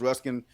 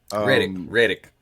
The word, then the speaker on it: Reddick: But rest in peace to Lance Ruskin. Reddick. You say, oh, yeah. You've been saying his last name wrong.